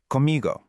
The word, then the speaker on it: comigo: But the right way to say it is actually one word, comigo.